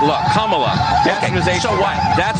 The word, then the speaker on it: Kamala: have mispronounced Kamala as camela Kamala the Ugandan Head Hunter brought here by the wizard what makes Camila Harris africanamerican nothing at all her name is pronounced comma like the punctuation mark look commala so what that's how